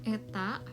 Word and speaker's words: eta: Ya, elastisitas dari suatu fungsi y sama dengan fx itu bersesuaian dengan x dapat didefinisikan sebagai, nah ini notasi ini kita bacanya adalah eta.